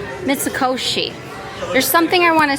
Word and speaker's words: Mitsukoshi: Mits mitsusi. Mitsukoshi.